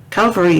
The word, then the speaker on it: Calvary: mansion he says the calvary when when what he means is the calf it's a cavalry calvary is the hill that jesus was crucified on calvary cavalry or cavalry